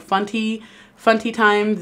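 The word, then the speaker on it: Funtie Times: And this video is coming from Funty Times. Let me know if I'm saying that right. It's spelled like auntie but fun, so I'm like Funty Times.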